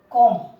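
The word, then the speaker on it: comb: जैसे उदाहरण के लिए हम समझ लें, जैसे आपने अक्सर एक वर्ड सुना होगा कॉम।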